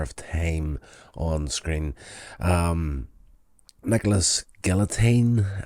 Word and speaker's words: Galitzine: Nicholas Galitzine, I don't know if that's how you pronounce his name. I've heard it been pronounced like that. It's Galitzine, it looks like, but I've heard people saying Galitzine as if the Z is silent on there.